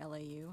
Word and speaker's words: LAU: I think the, is it Lau or LAU? How do we pronounce it's it? It's actually supposed Lau. To be LAU.